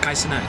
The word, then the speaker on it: Kai Cenat: in general, like Kai Cenat, how do you pronounce his name? Kai Cenat, yeah.